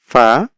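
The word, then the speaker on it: ف: ফা উচ্চারণ হয় হচ্ছে নিচের ঠোঁটের পেট সামনের উপরের ২ দাঁতের আগার সঙ্গে লাগিয়ে ফা, আর কফ হচ্ছে জিহ্বার গোড়া তার বরাবর উপরের তালুর সঙ্গে লাগিয়ে কফ, কফ।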